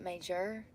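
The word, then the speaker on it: Maejor: M A E J O R. How to say? Surely somebody has video out there, right? I'm starving. It's not connected. Major. Yeah, it's pronounced major.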